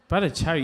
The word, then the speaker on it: Bhattacharya: Wow, great pronunciation. Bhattacharya, you nailed that.